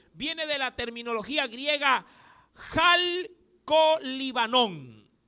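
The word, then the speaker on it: χαλκολίβανον: de la terminología griega jal con líbano y le dije que es un poquito difícil lo repito jal con jota al viene con acá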